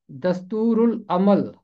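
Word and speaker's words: دستور العمل: यहाँ भी लाम के बाद ऐन हरफ कमरी है, तो लाम की आवाज़ खामोश नहीं रहेगी, लाम की आवाज़ पढ़ने में आएगी। इसका तलफ़ुज़ है दस्तूरुल अमल।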